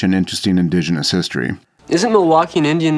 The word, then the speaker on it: Milwaukee: Isn't Milwaukee an Indian name? Yes, Pete, it is. Actually, it's pronounced Milwaukee, which is Algonquin for the good land.